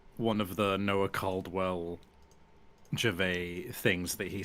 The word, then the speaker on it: Gervais: And just for chat searching, it is spelled Gervais, but it is pronounced Gervais.